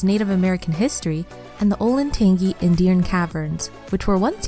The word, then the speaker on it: Olentangy: And sure enough, somebody decided it should be pronounced with a soft G. Olentangy.